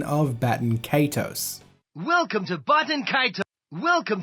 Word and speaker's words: Baten Kaitos: Welcome to Baten Kaitos.